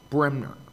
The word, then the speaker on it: Bremner: And our local medical doctors, Dr. Bremer, are you here? Hi, did I say it right? Yeah. How do you say it? Bremner.